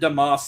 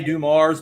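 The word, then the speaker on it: Dumars: We we pronounce it Damas in Louisiana. I know they all say Dum Mars, but we say Damas from from Baylor University.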